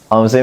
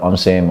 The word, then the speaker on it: omsim: Japan yeah yeah uh omim is like um it's it's originally um pronounced mismo but they just you know scrumble the words uh just reverse the words so it's it's it's spelled omim yeah so I I